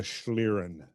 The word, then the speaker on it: schlieren: in German and it you always pronounce the second one which when they're together it's always the second that's right the second